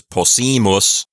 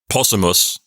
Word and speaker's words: possimus: So here it's possimus, not possumus, because we have a long I there.